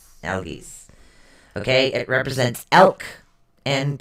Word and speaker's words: Algiz: It's actually spelled ELHAZ, but it is pronounced ALL-GEEZE. Algiz.